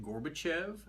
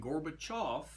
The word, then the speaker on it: Gorbachev: Google research today and I did find out that Gorbachev and gorbachov are actually both acceptable pronunciations of that man's name kind of like caliper and Calipari again Kudos Miss Smith